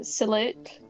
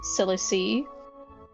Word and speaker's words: Silic: Uh coming up we have Sonic Robo Blast 2 by Silic Dev. I have recently discovered it is pronounced silic and not silicy.